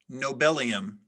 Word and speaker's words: nobelium: you guys are doing a great job all right we are on word 411 ananya your word is nobelium nobelium nobelium am i pronouncing it correctly yes may i have all